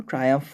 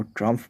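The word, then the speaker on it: triumph: इसको ट्रायम्फ पढ़ते हैं। किसी बेवकूफ़ टीचर का वीडियो मैंने अभी देखा था, वो ट्रम्फ पढ़े जा रहा था इसको। ट्रायम्फ का मतलब होता है सफलता, सफलता पाना, दोनों ही होता है।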